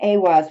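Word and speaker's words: Ehwaz: is makes this Rune more powerful okay receiving awas which is spelled EI i h w a z receiving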